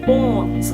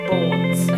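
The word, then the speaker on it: BØRNS: by the name of Borns. I assume that's how it's pronounced, even though it has the little like Danish O's with the line through in there, which would change the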